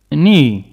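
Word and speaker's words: knee: répète finger naël genou ni ni on ne prononce pas le cas ni je répète mais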